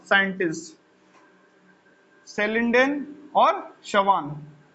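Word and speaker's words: Schleiden: सेलिडेन और शवान, यानी कि ये जो CH क्या है, ये साइलेंट।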